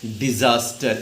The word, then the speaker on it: disaster: Next आओ डिज़ास्टर, इसका pronunciation पे ध्यान रखना। कैसे लिखोगे बेटा, डिजा, जा के नीचे नुक्ता लगेगा, डिज़ास्टर।